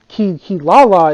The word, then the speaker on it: Kilala: Now, I'm saying their names like this because Kilala is not translated from Japanese, so I have to say it right.